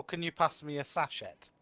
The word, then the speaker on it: sachet: It's pronounced sachet, not sachet. Sachet. Sachet. Sachet is kind of Sachet. like a dance or a move. No. It's pronounced sachet. Rhymes with to pay.